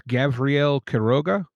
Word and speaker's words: Gavriel Quiroga: It's Gabrielle Keroga. Yes. Perfect. Okay. That's the best pronunciation I heard so far.